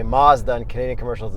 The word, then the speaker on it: Mazda: Just like you guys say we pronounce Mazda wrong. Even though in the American commercials they say Mazda, and Canadian commercials it's Mazda, and in Japan it's Masuda.